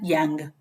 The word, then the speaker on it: Young: 29 se llama Plan Young. Young, como se escribe joven en inglés, Y-O-U-N-G, si no me estoy